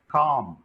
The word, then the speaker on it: calm: It is calm. Though we write CA, but it's a long sound, calm, just like fifth one.